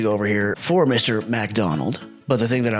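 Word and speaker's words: Macdonald: I was talking about Mike McDaniels in Miami, and I think I called Mike McDonald Mike McDaniel singular, but it's actually Mike McDonald.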